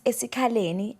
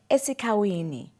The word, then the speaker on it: eSikhaleni: White people failed to pronounce eSikhaleni and said eSikhawini.